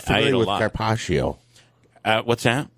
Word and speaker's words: carpaccio: I'm not familiar with carpaccio.